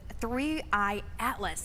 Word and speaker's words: 3I/ATLAS: But let's talk about the the new things with three Atlas. That's the correct way to pronounce it, correct?